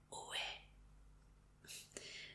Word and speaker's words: où est: Entonces, para decir dónde está o dónde se encuentra, se dice où est. Sí, yo sé que suena como que un poquito raro.